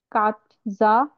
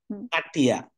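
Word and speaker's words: Katja: আচ্ছা, কাটজা petro. এখানে উচ্চারণটা এরকম হবে, একটু দেখেন। কাটিয়া।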